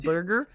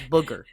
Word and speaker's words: booger: I keep saying burger in my like when I say it like wood burger, but it's booger. Like picking your nose.